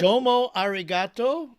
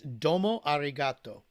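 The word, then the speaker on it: どうもありがとう: say it in Japanese I believe it's Domo arato and in Hebrew it's toara toara in Hebrew and in Japanese it's domo arigato domo arigato oh that's beautiful all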